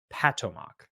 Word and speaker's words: Potomac: And you don't Potomac is how we actually say it. The proper way of actually saying it is Patomac.